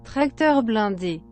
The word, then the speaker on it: tracteur blindé: So stream, here's how it's pronounced. Tracteur blindé.